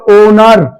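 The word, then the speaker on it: owner: साथ में आए तो एच की आवाज साइलेंट रहेगी ओ की आवाज से शुरू होगा ओ एन ओ यू आर ओनर तो ओनर लिखा जाएगा तो इसके साथ हमारा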